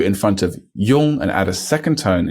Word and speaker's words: 用: 用. So that's a e and a ong. 一用. 用. Again, that's spelled Y-O-N-G when it's on its own, such as in 用, to use. 用.